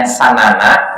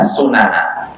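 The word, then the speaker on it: سنن: Di sini bisa bacanya sanana, bisa sunana.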